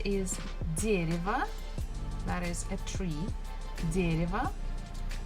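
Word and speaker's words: дерево: that is a tree dereva stressfuls on the first syllable so the first syllable we must pronounce as it is but next one Ria is not stressed so we can change it into e woo also not stressed you can change it into a so it will be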